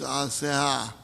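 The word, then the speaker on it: Asenath: In the Bible, Joseph, a Jew, marries Asehah, that's the way it's pronounced, an Egyptian woman, and they raise two sons together.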